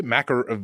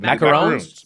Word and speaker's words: macarons: Left the I think she's left the agency business and she's making um how do you say macaroons? Macarons. Macarons. These ones have one O.